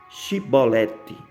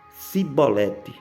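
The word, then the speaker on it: Chibolete: E dizendo ele: Não, então lhe diziam: Dize, pois, Shibolete. Porém eles diziam Sibolete, porque não podia pronunciar bem.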